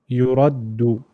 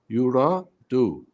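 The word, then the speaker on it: يُرَدُّ: هي حج يرى دو يرد Okay, you can't say do, huh? That can't be pronounced. So it's yuraddu. يرد Ahsant, Brother Dawood. Hiju. Ahsant. Well done. Yura. Yuradu.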